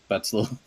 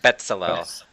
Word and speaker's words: Betsalel: Make a perception roll, Betzel, Okay. just to see if you can hear. How do you pronounce it? Betzel? Is it kind of like pretzel? Betsalel.